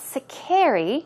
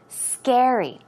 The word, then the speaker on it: scary: final word scary also it's not secare ii it's scary okay Gary the syllable goes on though I mean the stress goes on the first syllable so some other words